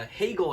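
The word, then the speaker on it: Hagel: up don't and uh hegel i believe tipped it in it looked like a ridiculous shot from debrinket at first but apparently got tipped in by a guy whose name rhymes with bagel so it's one nothing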